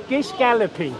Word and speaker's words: Gish galloping: correctly then you say the correctly Gish Galloping Gish Galloping yes Gish Galloping see you learned something from